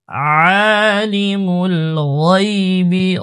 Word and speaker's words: الغيب: মোটা করব হুয়াল্লাহুল্লাযী لا إله إلا هو عالم الغيب غين موتا عالم الغيب গাইবি গয়নের উচ্চারণের জন্য পাতলা না হয় গাইবি যেন না